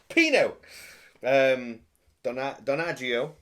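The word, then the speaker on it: Pino Donaggio: Jimmy, I told you how to pronounce the name. My God. My Jimmy. So Pino, Donaggio.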